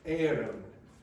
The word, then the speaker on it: Éireann: Yeah, Bus Éireann. So it's bus and then E accent, I-R-E-A-N-N.